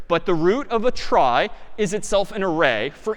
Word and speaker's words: trie: a try so a try sort of a weird name and pronunciation short for retrieval pronounced try typically a try is